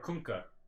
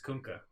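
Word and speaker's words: Kunkka: all right kka or kunka kka it's kka even though I don't say it it's kunka you know how I know because I ask kunka himself how don't pronounce his name well who plays that hero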